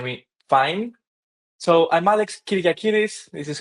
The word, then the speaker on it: Kyriakidis: So I'm Alex Kyriakidis. This is how you will pronounce this.